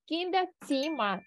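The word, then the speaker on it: das Zimmer: коридор тогда это даціма нагадуємо собі що оцю літеру ми читаємо Як цціма так цього слова вас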